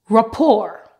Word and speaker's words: rapport: example balet Buffet Gourmet Rapport this word doesn't end with t but it is a French word and the t is silent Mar normally when you